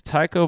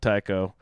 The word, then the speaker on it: Tycho: So just random Dutch astronomer, silver nose, Tycho. I think it might have been pronounced Tico even, so I might be making a total connection that was stupid.